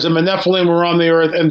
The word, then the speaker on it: Nephilim: And it says, and the Nephilim were on the earth in those days and also afterwards, when the sons of God took wives and had children by them.